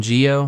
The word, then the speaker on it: Gio: But for the rest of this, I'm just gonna call him Gio. Even though, yes, I know that technically it's supposed to be pronounced Joe, but I don't care.